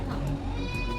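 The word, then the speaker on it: thumb: होता है गम थम बहुत से लोग थम को थम भी बोलते हैं बट बी इसमें साइलेंट होता है इसलिए हम इसको इसका जो करेक्ट प्रोनंसिएशन है वो होता है थम सेकंड केस है जब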